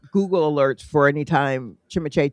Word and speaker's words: Timothée: Honestly, I believe we are saying Timothy. Yeah. But it actually is Timothée. Timothée. But no one in America is really saying Timothée because it's French.